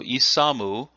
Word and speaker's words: isamu: So isamu is how this would be pronounced from the Japanese origin, or the kunyomi.